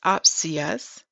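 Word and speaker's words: ὄψιος: seven nine eight and it's pronounced as opsius okay and we're going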